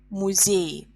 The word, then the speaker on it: музеи: Музей ends in y. So to make plural, we write e instead of y, and it becomes музей. Музей, музеи. Е is stressed, and in plural, е is stressed.